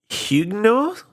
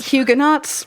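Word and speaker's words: Huguenots: I mean, okay, it's French, so you're right. You would not pronounce the H.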